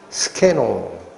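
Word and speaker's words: σκηνόω: 이 거하시매가 헬라어인데 이 단어가 장막을 치다라는 단어인데 발음이 뭐라고 나온다 그랬습니까? 스케노.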